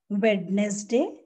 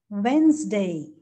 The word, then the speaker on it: Wednesday: Wednesday? No. The correct pronunciation is Wednesday.